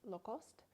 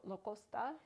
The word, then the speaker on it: Lacoste: often referred to as Lacoste. Either pronunciation is correct. I grew up overseas, so Lacoste is how I always pronounced it growing up, and that is how the French pronounce it.